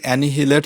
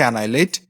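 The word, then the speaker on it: annihilate: এটার উচ্চারণ কিন্তু এানহিলেট হবে না। উচ্চারণটা হবে হচ্ছে এনাইলেট।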